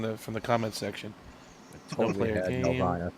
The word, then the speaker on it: Nelvana: How do you pronounce that Romulan planet again? Norvala? Nelvala. Nelvana.